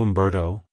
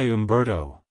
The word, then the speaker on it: Humberto: the hoop sound at the beginning followed by a clear bear and toe at the end avoid softening the bar sound in the middle like hello Umberto goodbye Umberto if you found the